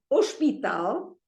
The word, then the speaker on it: hospital: It is hospital. Again, stress is on the last syllable.